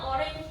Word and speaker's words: orange: Ya, ini cara bacanya orange juice bukan orang.